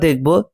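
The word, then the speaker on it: the: iridescent যে শব্দটি এটি ভাওয়েল দিয়ে শুরু হয়েছে, তাই এর আগে আমরা এর উচ্চারণ করেছি দি, কিন্তু টুয়াইলাইট শব্দটি কনসোনেন্ট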